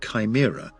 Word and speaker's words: CHIMRA: CHIMRA, pronounced Chimera, after the multi-headed creature of Greek mythology, which stands for the Collection and Handling for In Situ Martian Rock Analysis Tool.